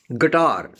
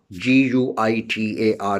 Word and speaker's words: guitar: Guitar, G-U-I-T-A-R, guitar. And liquor, liquor, liquor. So in all these words, U is silent.